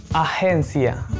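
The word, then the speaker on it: agencia: एजेंसी को हम कैसे बोलेंगे, अहेंसिया, अहेंसिया, अहेंसिया, अहेंसिया, अहेंसिया। अब यहाँ पे जी को अजेन नहीं बोलेंगे, अहेन, अहेंसिया। अगला है खाते में शेष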